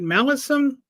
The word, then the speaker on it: Malison: I say your name is it malison like Allison with an m is that the correct